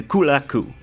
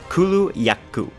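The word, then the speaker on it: Kulu-Ya-Ku: first one being the kulaku or uh Kulu laku there we go that's how you Kulu yaku that's how you say it um a very interesting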